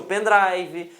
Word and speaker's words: pendrive: vocês falam pendrive ou pen driver certo com certeza vocês falam pendrive certo Por quê que é pendrive porque drive significa dispositivo tá então é dispositivo de algo Então existe o pen drive existe o hard diz